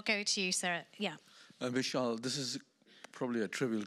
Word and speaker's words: Mishal: um she she said the way she always pronounce my name was Michel so in uru MIM